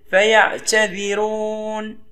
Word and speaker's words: فيعتذرون: بتركيز لنطق فيعتذرون مجرمون نركز على الراء فراء ترقق هنا لان قبلها كسر لازم او مسبوقه بكسر هنا هي اللي مكسوره اذا كانت مكسوره او مسبوقه بكسر تقرا مرققه نقول فيعتذرون رون ماقولش رون في مجرمون استخلص